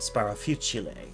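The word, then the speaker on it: Sparafucile: um sparophusil's name is sparafucil until i watched one let's player like la la let's place i believe is their name um and uh they said it with the italian pronunciation sparrow futureley and i'm like oh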